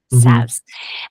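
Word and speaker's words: salves: thinking about adding savs that's how you say that word right savs um with a silent L uh to our offerings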